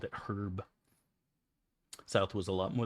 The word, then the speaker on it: Herb: If you met a guy called Herb, would you pronounce it with a hard H or herb? Herb, hard H, because I'm assuming it's short for Herbert, not Herbert.